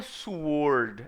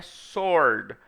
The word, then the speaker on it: sword: de João with Sword Sword não é subword é sorda sorte Wesley da sórdida